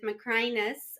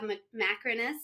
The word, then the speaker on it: Macrinus: You can have a long I with Macrinus, or you can have Macrinus. It's fine. It is all acceptable and okay.